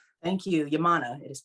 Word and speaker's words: Yaminah: healing coach yamina welcome to the show yamina thank you yamana it is pronounced yamana it's okay i've heard it all kinds of